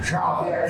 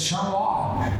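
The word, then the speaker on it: Charlotte: it's cows it's it's not uh charlot it's charot and so on and fr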